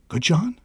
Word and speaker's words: Goodjohn: I tried to give it a French pronunciation. How'd I do? Terrible? Nailed it. Perfect. Nailed it. Okay. I don't put that much French on it. So. Okay. Goodjohn. Like Grey Poupon, right? Exactly.